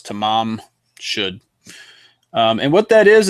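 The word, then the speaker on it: Tamam Shud: um newspapers misprinted it as Taman should but it's tamam should um and what that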